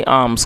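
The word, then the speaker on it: alms: Please give me आर्म्स, कृपया मुझे भिक्षा दीजिए। और दोस्तों इसमें मैंने इसको देखिए आर्म्स पढ़ा है, आप भी इसको नोट कर लें। इसमें जो एल है वो साइलेंट है तो आर्म्स पढ़ेंगे, जिसका अर्थ होता है भिक्षा।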